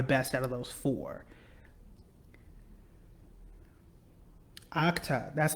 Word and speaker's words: Okta: Okta, that's how you say it.